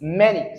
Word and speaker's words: many: that first example there it is many so that a there is E. So you can't say I have money books. So it is E.